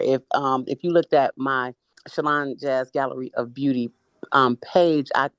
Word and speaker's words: ShylanJazz: yeah, you said it right, Shalon Jazz.